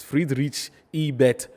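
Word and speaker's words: Friedrich Ebert: okay ebert friedrich rich i've just been taught how to pronounce it's free reach ebet foundation or stiff tongue yes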